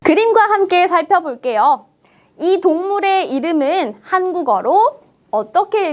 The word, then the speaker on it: 한국어: 다시 한번 살펴보겠습니다 볼게요 받침에 기억이 있습니다 그리고 뒤에 오는 음절은 어라는 모음으로만 이루어진 음절이 그래서 뒤에 있는 이응 비어 있는 초성 자리에 기역 자음을 빌려와서 채워 줍니다 그럼이 단어는 어떻게 읽을 수 있을까요 한국어라고 읽을 수 있겠죠 글자 그대로 한국어라고 읽는 것보다 한국어 어때요 훨씬 더 발음이 편하게 들리지 않을까요 그럼 우리 몇 가지